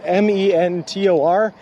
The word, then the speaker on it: Mentor: um Mentor it's pretty it's m-e-n-t-o-r and they pronounce it Mentor they just dropped the D like it doesn't exist s people uh do that